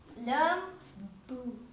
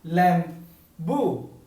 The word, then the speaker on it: lembu: If we Tagalog were reading this, will be lam bu. It's the same It's the same thing, but but then every country have their own ways on writing the way of the main word in English. Okay. Right. So, like Al Gibson Jr. just now he said, "Lem bu." There is uh another pronunciations for in Malay.